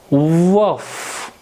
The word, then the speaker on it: veuf: V is V, EU gives A sound, and F fits in CFLR rule, and hence F will be pronounced here. So it altogether gives woof, woof. It makes woof, which means widower.